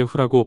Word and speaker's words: ふ: 한국어로 자연스럽게 후라고 발음을 하면 됩니다.